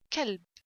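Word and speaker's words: كلب: So this kaf, kalb. Kalb means dog. Here qaf, if I pronounce this kaf, qaf, we say and said qalb, qalb will be heart. So don't say heart kalb and don't say dog qalb, okay?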